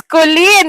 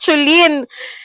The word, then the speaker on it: Chollyn: It's Colleen. It's not Chulin. It spells Chollyn, but it's pronounced as Colleen. You tell them, okay? Yes. Teacher Luchi, it's silent H.